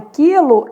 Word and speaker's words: quilo: Na verdade, esse U que apareceu na palavra quilo é um U nulo.